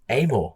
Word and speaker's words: Amor: My father pronounces it am but amore. Yeah, but even McInness like still calls me Amort and always has done.